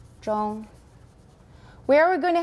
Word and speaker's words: zhong: same as gom right it rhymes with gong zhong where are we going